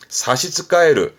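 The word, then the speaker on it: 差し支える: 이 사스에 또 뭔가 지장의 의미가 있어서 지장의 지자, 요걸 써가지고 발음은 사시츠카에르, 사시츠카에르, 지장이 있다.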